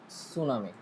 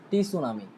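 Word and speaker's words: tsunami: Pronunciation হচ্ছে ধরুন একটা ওয়ার্ড হচ্ছে ফর এক্সাম্পল সুনামি, কিন্তু এটার বানানটা হচ্ছে টি সুনামি। এখন আমি যদি এটাকে প্রনাউন্স করি যে টি সুনামি, তাহলে আমার প্রনাউন্সিয়েশন হয় নাই। আমাকে এটা প্রনাউন্স করতে হবে কি, সুনামি বলে।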